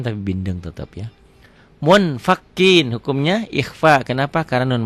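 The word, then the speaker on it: منفكين: Munfakin, hukumnya ikhfa. Kenapa? Karena nun mati ketemu fa. Cara bacanya munfakin.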